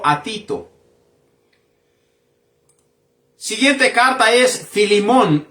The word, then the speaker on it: Filemón: Tito siguiente carta es filimón y esta carta se pronuncia de la misma manera filimón la carta del shal shaul